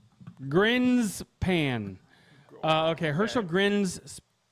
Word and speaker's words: Grinspan: Anyways, so today, coming in at number 10, I'm going to have fun pronouncing this. Herschel Grinspan. Grinspan.